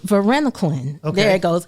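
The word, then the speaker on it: varenicline: you say it right Verena Clin there it goes because you have to put the L in the end Verena Clin okay that's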